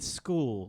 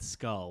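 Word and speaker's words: Skoal: look like chewing tobacco so you mean school like school it sounded like you said skull I did okay that's not how you pronounce it I think it's well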